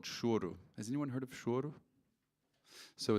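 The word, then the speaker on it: choro: that I really didn't know anything about called shoru has anyone heard of so it's spelled c-h-o-r-o and I thought it was like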